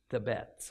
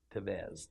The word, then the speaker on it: Tebez: Well, with the central city of Shechem now in ruins, Avimelech moved against the neighboring city of Tebez, or Tevez, depends on how you want to pronounce it, that lay about 9 miles northeast of Shechem.